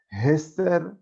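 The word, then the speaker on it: אסתר: Pero la Megilá obviamente fue escrita en hebreo y hay un sentido también para la pronunciación hebrea del nombre Esther, que es con la letra Hei, Hester, que quiere decir ocultamiento, en este caso, de la presencia divina.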